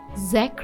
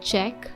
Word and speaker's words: Czech: January 1st 1993 now if you wonder if it is Zach Republic or Czech Republic the pronounciation dictionary says it is Czech and not say this epic story a